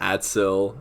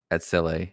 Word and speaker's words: Atsile: Yeah, I know last game we were calling him Atsil, and that wasn't probably not how you want to pronounce his name. Atsile. See, we weren't even saying it right then.